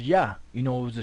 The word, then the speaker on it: Yah: where the name of the most high is pronounced yah you know it was a shorten form of